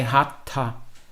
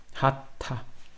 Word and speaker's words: Hatha: Esse ponto embaixo do T chama-se bindu, e ele transforma o T num T retroflexo, que eles chamam. Então, quando você pronuncia, você coloca a língua no céu da boca, e aí quando você vai falar o HA em seguida, ele sai hatha, hatha, né? E isso pela presença do bindu.